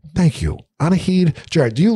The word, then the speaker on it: Anahid: your how do you say your first name anaheid thank you anaheed jared do you like to be called anahit